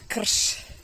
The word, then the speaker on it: krš: In Serbian, the word for this is krš. You can try to pronounce that.